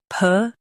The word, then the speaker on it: pugnacious: PUGNACIOUS. Now read the syllables shown on the screen naturally. Pug, nay, sh. PUGNACIOUS. Emphasize nay and keep shush soft.